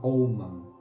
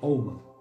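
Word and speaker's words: אמן: Otra palabra también en el Antiguo Testamento es la palabra oman. Se escribe amán, ¿no? Se oman.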